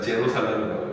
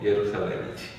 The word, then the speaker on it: 예루살렘: 우리 이런 거 있잖아. 예수라고 있지. 지셔스라고. 미국 놈들은 이상하게 있잖아. 예루살렘도 아니라 제루살렘이라고 있고. J를 그냥 J로 발음하는데 원래 이제 본토 발음은 뭐야? 예수, 예루살렘이지.